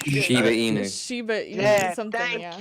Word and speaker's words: Shiba Inu: It's a Shinubu. What the hell is that thing called? Shiba Inu.